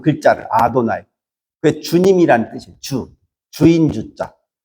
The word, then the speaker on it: 아도나이: 근데 읽을 때는 아도나이라고 읽어요. 그 글자를 아도나이.